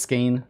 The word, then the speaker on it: skein: scrolled up whoops okay just skein all right rhymes with pain nice well that would